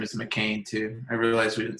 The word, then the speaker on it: McCain: You say McCain, like the French fries.